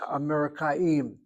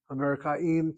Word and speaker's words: אמריקאים: Americans, Amerikaim, are always running. Amerikaim tamid, the word for always.